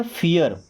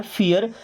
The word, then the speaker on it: fear: अब ई का मतलब क्या, छोटी ई की मात्रा, ओके। और ये आर से क्या बनता है, र, तो क्या बन गया, फियर। क्या बना, फियर। FEAR, फियर।